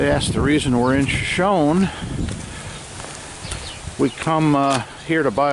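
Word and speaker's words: Shoshone: Hey guys, coming to you from the famous Crowbar Cafe and Saloon in Shoeshone or Shoeshone, California. I think the locals do pronounce it Shawnee. Anyways, real bright.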